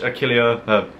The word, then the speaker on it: Achillea: I'm Achillea, A-C-H-I-L-L-E-A, because a lot of people struggle to pronounce my name.